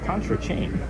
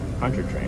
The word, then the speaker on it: Pontchartrain: It would be awesome to be in a boat on Lake Pontchartrain. Pontchartrain.